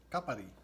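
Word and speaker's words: κάπαρη: Kapari. In Greek, you pronounce it kapari.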